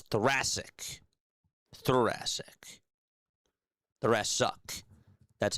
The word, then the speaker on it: thoracic: Thoracic.